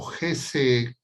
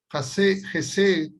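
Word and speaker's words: Hesed: términos son el término Gesed y el término Ramí. Gesed, si quieren ustedes, si quieren tomar nota, se escribe H-E-S-E-D.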